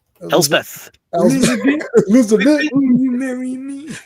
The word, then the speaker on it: Elspeth: It was actually Elsbeth this entire time that we just didn't. Elspeth, yeah.